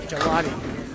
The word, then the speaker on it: Gigliotti: Yeah, Gigliotti. Gigliotti, right? Gigliotti. I like Gelato, but Gigliotti.